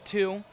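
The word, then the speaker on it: Tew: Now the significance of that is my last name is 2, pronounced like the number, but sounds like or is spelled T-E-W, but I'm also the second.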